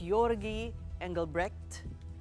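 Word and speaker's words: Georgi Engelbrecht: And joining us tonight to discuss these and more is Yorgi Engelre.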